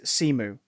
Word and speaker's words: Simu: there was a period where he uh the pronunciation is simu simu simu he doesn't say about his surname